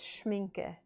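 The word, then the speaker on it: Schmincke: I've been pronouncing it wrong. It's Schminke.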